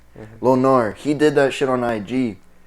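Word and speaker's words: Lo Gnar: how to say it it's like low g-n-a-r is it right yeah the g confuses me lonnar he did that [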